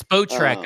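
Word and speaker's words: Spotrac: I never know how to pronounce it. It's Spo Track, apparently.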